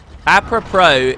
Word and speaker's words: apropos: Apropos is the S is silent.